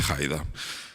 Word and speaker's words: Haider: Y se organiza una revuelta en la que un líder joven llamado Haider, un poco pronunciado en alemán, Haider, se hace con el control del partido en el año 1986 hasta 2005.